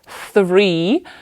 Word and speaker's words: three: це зробимо one two three бачите тут оце Three тяжко вимовляти тому що там є два звуки на початку ф TH вимовляється за допомогою язика між двома зубами Three а потім іде